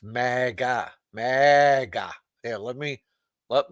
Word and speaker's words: MAGA: It's mega mega. Yeah. Let me let me phonetically sound it out for you, Frank. Mega. Mega.